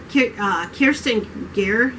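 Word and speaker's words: Kirsten Gier: But it's Kirsten Gear, is how you say her last name, Dream a Little Dream, and it's the Silver Trilogy.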